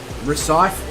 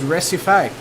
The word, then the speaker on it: Recife: on a sec oh i i i thought i was being funny but uh or silly but it actually is recipe there you go you had